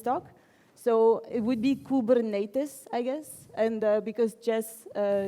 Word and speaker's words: Kubernetes: Yes, so some people say Kubernetes, some people say Kubernetes, blah. This is actually the Greek inscriptions of how you would pronounce this word, because this word is from Greek.